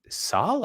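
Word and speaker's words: Searle: always talk about John so he says Saul I've never heard his name pronounce that I've always heard him called so but anyway whatever yeah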